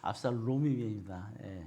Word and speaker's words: 압살롬: 놈이 아니라 롬입니다. 롬. 발음 잘해야 돼요. 압살롬입니다.